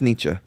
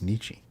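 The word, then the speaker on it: Nietzsche: No, it's actually pronounced Nichza. I I don't know where Mad's right on this one. In America, where we don't care about what country he came from, it's Nichi.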